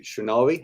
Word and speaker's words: Shrinari: In a minute, I'm going to be talking to Shrinari. Have I pronounced that correctly?